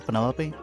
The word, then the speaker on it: Penelope: Is that short for Penelope? Officially, yes, but I never can be bothered with all four syllables of it.